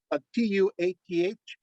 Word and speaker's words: Tuatha: By the way, it's spelled Tuath. I listened to lots of Celtic the recordings. The th is silent. Yeah, so it's Tua, and you stop there.